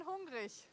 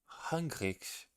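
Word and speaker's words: hungrig: It's been hungri. Hungrich. The G in the end is not hungri.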